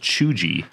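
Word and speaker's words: cheugy: it says it's pronounced chuji with hard G sound the term was coined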